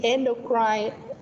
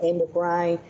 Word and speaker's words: endocrine: các anh chị, hoặc mình có hai cách đọc, một là mình có thể đọc là endocrine, cách thứ hai mình có thể đọc endocrine, cái nào cũng được nha các anh chị, được không?